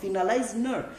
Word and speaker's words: finalize: which is pie then you put the stress here five finalize finalize don't say finalize again finalize we are finalizing